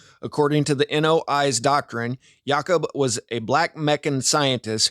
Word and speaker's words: Yakub: It's just Jacob pronounced in the traditional style.